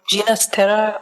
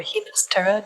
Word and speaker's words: Ginastera: It is from a modern composer who died in the 1980s, Alberto Ginastera or Ginastera, depending on which pronunciation you prefer, from Argentina, and deeply influenced by traditional music, including indigenous music in his country.